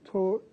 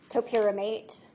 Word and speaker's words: topiramate: Was she prescribed torpiramate? Yes. How do you say that? Topiramate.